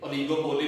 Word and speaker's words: oligopoly: बाद लोग इसे ओलिगोपोली भी पढ़ते हैं, तो आप लोगों ने कोशिश कर रही है कि आप लोगों का प्रोनाउंसिएशन ठीक रहे, दैट इज ओलिगोपोली।